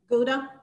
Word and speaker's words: Gouda: Gouda. Gouda. Yep. Same. Okay, do y'all know in Dutch, the G is, it's called a glottal sound. And so you actually pronounce that gouda, like you're going to spit.